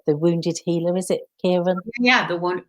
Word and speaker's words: Chiron: it right but the wounded healer is it kieran yeah the one chiron chiron yeah i didn't i thought i was